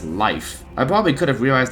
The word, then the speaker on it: Leif: I was pronouncing it as Leif, but no, it's Leif.